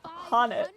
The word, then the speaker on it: Han: It's pronounced Han.